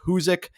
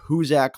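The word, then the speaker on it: Hoosac: The correct pronunciation is Huzek, but I kept saying Huzac like a complete idiot.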